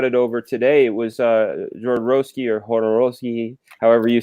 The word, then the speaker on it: Jodorowsky: With Raiden, we can have a lot of Jodorowsky conversations. A lot of holy Matt brought some. How do you say it? You say Jodorowsky.